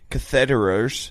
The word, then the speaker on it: catheter: I place catheters. Yep. Yeah. Catheters. Catheter, like Federer, but cath.